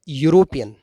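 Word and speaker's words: European: और यूरोपियन, अब आप देखेंगे कि यहाँ पर लिखने में स्पेलिंग तो ई आ रही है, लेकिन क्योंकि उच्चारण य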